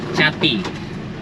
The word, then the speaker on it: Chati: Chati. Chati? Yes. So it's a ch at the beginning. Cha. Chati.